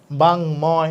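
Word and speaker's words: বাঙ্ময়: বাংময় বলি, তাহলে উমর সাথে ম আছে, বাংময়।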